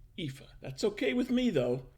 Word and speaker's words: Efa: you for listening hello my name is eva that is how you say dog if you're a seminal indian my master thought it